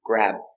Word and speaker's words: grab: Grab. Stop B, grab.